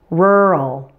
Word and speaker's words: rural: together rural rural and rural is a two syllable word since it's an adjective right it's describing something you can predict that the stress will probably be on the first part since two syllable adjectives usually stress the first part and yes it does follow that rule so say it like this the first syllable is much louder and longer than the second rural let's try a